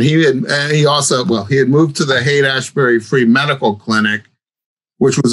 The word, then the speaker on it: Haight-Ashbury: Haight-Ashbury.